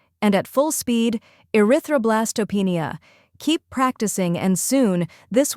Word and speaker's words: erythroblastopenia: slowly a r roenia try repeating after me erythroblastopenia now a little faster erythroblastopenia and at full speed erythroblastopenia keep practicing and soon this word will roll